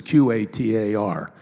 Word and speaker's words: Qatar: I'm not sure how you pronounce it. There's no U. It's Qatar, where they're now air conditioning the outside.